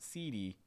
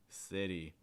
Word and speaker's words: city: you really want to make sure you're getting that short eye and city on that first level city not seedy city same thing with the